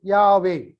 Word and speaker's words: Yahweh: Yahweh is the 4-letter word, YHWH, which is usually pronounced Yahweh.